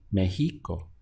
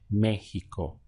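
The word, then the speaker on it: México: that default setting they put the accent over the e to tell you that you need to stress that syllable and not the one before last so seeing the word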